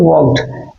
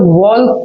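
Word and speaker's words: walk: ED that is called वर्क। इसको हम लोग व्क वर्क पढ़ते हैं। व्क नहीं पढ़ते हैं। एल साइलेंट होता है।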